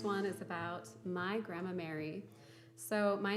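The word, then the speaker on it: Mairi: uh it's a scottish spelling and i do pronounce it mary when we were in scotland i think they did confirm that it would be pronounced or moira and so you can call me that i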